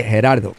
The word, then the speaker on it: Gerardo: and you can say Gerardo is cool but if you can pronounce it you can say herard herard herard is here thank you